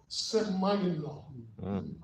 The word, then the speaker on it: semaino: It's the word semaino. Can we pronounce it together?